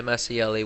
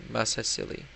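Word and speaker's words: Masaesyli: Libya now took over that, and the Massieli will be our eventual target. Actually, let's check the diplomacy right now. So the Massieli, no, the Massieli, not the Massilia. Massieli, no, Massasili.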